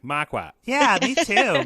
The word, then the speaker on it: Marquardt: Marquardt. I accept a lot of half-assed efforts, though. I always say it like a Bostonian, where it's like Marquardt. Yeah, me too. Marquardt.